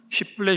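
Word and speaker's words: שיבולת: 저도 입을 다물고 있으면 표가 나지 않는데 입을 여는 순간 경상도 출신이구나라는 그게 알려지듯이 에브라임 사람들은 쉿볼렛 쉬 발음을 시키면 발음이 안 돼서 시라고 발음했나 봅니다.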